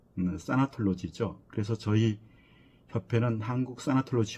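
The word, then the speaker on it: thanatology: 우리가 죽음학 하면 타나톨로지, 영어 발음으로는 사나톨로지죠.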